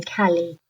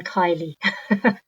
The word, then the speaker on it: Kallie: your first name because i started with cali then i migrated toward kali but i want to know how you pronounce it in your life right now uh mostly everybody who calls me cali yeah and i'm very happy it's better than kylie that's for sure no offense to any kylie's